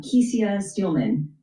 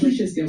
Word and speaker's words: Kesia Steelman: And talk to us about the president and the CEO, uh Kesia Steelman. Am I pronouncing your name correct? Kisha Steman. Kisha Steelman. Okay.